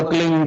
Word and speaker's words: क्लीं: की मात्रा और बिंदी, उसका उच्चारण होगा क्लींग गा की ध्वनि निकलेगी पीछे।